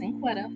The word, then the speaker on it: Cinquetta: name is cinquetta and even though it looks like it's in quite it's pronounced cincuetta it's incredible but no